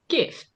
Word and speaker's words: GIF: No, not an Oh, emoji, a like gift, the a get gift.